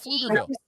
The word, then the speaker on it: Pflugerville: Because I was just talking about Pflugerville. No, what Friday Night Lights? That's where it was filmed. Oh, okay. The show. Okay. Puff Pflugerville. Puff P. Pflugerville. Yeah, right. The P is silent, which is never happens in this house, you know.